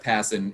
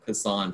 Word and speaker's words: Passan: baseball writer uh jeff passin and yes i youtubed it earlier today to make sure i got the pronunciation right because i've i've been saying hassan for a very long time uh jeff how you